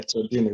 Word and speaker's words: Cialdini: I forget how to pronounce it. Yes, it's Cialdini or something like that. Yeah, Cialdini, Robert Cialdini.